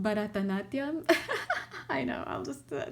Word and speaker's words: Bharatanatyam: It's called Bharatanatyam. I know, I'll just spell it for you.